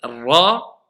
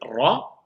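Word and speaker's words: راء: Et on va pas avoir le ra parce que certaines personnes roulent trop le ra. Non. Et certaines personnes ne roulent pas du tout. Non. Voilà. C'est-à-dire on le roule un tout petit peu, le ra, mais très légèrement.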